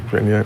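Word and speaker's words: Chenier: Phil, what, Chania? How do you say it? Chania?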